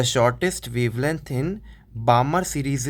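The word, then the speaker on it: Balmer: बामर series ठीक है या बामर सीरीज एम सा एल साइलेंट रहता उसमें ठीक है फिर आता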